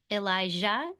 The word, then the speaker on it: Elijah: Those names sound very similar, but they are not the same. One is spelled with a J and one is spelled with an sh. Elijah and then Elisha.